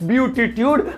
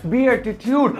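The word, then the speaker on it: beatitude: अब भाई इस शब्द को देख के पहले तो मुझे ये लगा कि लिखा हुआ है ब्यूटीट्यूड, मतलब ब्यूटी से रिलेटेड होगा, लेकिन इसकी प्रोनाउंसिएशन है बीएटीट्यूड।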